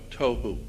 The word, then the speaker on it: Tohu: Pronunciation, it would be T-O-E-W-H-O, Tohu.